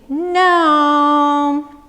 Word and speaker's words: gnome: show you the way say it with me No jee-in om e but the G is silent don't ask me why